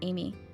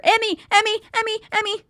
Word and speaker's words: Emi: Emy, not Amy. Well, no, because Emy. I'm trying to think of the Japanese pronunciation. It's Emy. Okay.